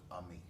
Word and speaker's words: AMIS: AM m i s we pronounce it the French way because we want kids to be friends through music we have 85 member